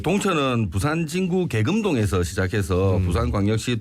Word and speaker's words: 동천: 네, 현재 동천은 오래도록 오염된 물이 흘러서 그 이미지가 그리 좋지는 않습니다. 예, 부산 사투리로 그냥 세게 발음해서 똥천강 네네. 예, 이런 식으로 많이 발음을 하십니다.